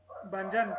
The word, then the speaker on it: Banyan: Banjan, pero igual se Banyan, escucha ok.